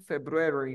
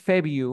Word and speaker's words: February: febru february Ya ahora los nativos no dicen february por qué Porque si te das cuenta febru es como complicado no febru bru febru entonces lo que dicen es febi a ver feu february marzo